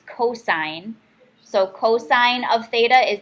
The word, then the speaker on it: cosine: is 4 over 5 cosine is cos so it's not cost a here cost a lot that is cosine so cosine of theta